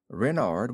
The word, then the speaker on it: Renard: is King Renard IV Renard with the a Accent on the ren what's Ren asked button